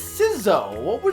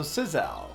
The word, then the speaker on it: Sizzo: It's Sizzo. How else would you pronounce it? Scissors with a W, so Sizzal. Sizzo. I guess you could say it's Sizzal, but I don't. It's a made-up word. I can pronounce it however I want.